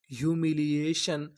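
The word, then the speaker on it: humiliation: हम लोग टी आई ओ एन को पढ़ते हैं शन। क्या पढ़ते हैं? शन। तो पूरी मीनिंग क्या बनी? यू मी ली ए शन, ह्यूमिलिएशन, ह्यूमिलिएशन।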